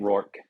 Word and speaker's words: Rourke: they took Curtis Rokes or how do you say it? Rourke.